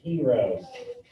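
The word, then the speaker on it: Heron: his name is pronounced heroes okay the n is silent so heroes formula so we are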